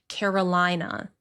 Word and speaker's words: Carolina: Long I sound. Carolina.